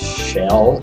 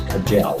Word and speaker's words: Kjell: My name is Shell, but most English-speaking people thinks it's Kajell, but it's not.